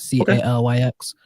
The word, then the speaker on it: Calyx: your regular devices uh but you know on calyx OS you can you can block all this